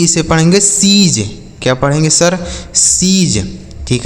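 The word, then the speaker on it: siege: एस आई ई जी ई इसे पढ़ेंगे सीज।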